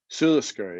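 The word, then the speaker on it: Sula Sgeir: set sail for, and how do you pronounce this? Sulisgear? Sulisgear, yeah.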